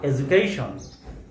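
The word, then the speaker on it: education: Same last শব্দটি তা হলো এডুকেশন। এই শব্দটিতে যে ডি বর্ণটি রয়েছে এটির উচ্চারণও বাংলা বর্গীয় জ এর মত।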